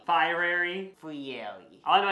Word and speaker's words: Fieri: was just gonna say how do you say his name but it's Guy Fieri fiery for you all I